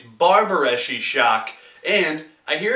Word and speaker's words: Barbareschi Sciock: a little bit i do know how to pronounce it it's barbareschi shock and i hear it's an italian talk show